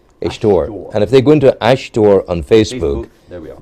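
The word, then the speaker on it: aisteoir: there no no sorry I was going to spell it ash oh ashor yeah sorry yeah Ash a i s t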